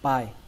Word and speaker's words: pie: Các bạn cứ nhớ là hãy xem âm E là âm không tồn tại. Đọc là pie, pie, rất đơn giản, pie, pie.